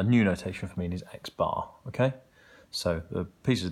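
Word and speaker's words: x̄: notation for mean is x-bar okay so the pieces of data are look alikes and X with a bar over the top pronounced X bar is another way of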